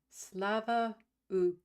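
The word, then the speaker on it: Слава Україні: Slava Ukraina is what Rachel Atwood is saying, is how it's pronounced.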